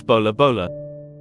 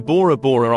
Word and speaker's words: Bora Bora: The name comes from the saying, Pora Pora Maita Pora, created by the gods, by the locals, sometimes pronounced as Bola Bola. In World War II, Bora Bora Island served as a military supply base, oil depot, airstrip, seaplane base, and defensive fortifications.